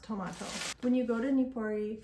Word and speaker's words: Tomato: And it is pronounced tomato.